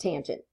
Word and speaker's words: tangent: And then the last one is tangent, which we use T-A-N, but that is pronounced tangent.